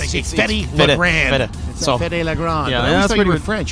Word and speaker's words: Fedde: proper way I mean most people say fety but it's fetty fed thought you in